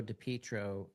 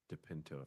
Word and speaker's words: DePinto: Um I think it's Depinto. Depinto. Depentro. Yes. I've said his name wrong before.